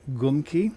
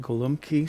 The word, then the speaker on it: Golumpki: He said he was from upper state New York where they pronounced it Gumki. I went onto the internet and looked at several recipes on YouTube, several videos. And some people pronounce it Golumpki, some people pronounce it Gumki.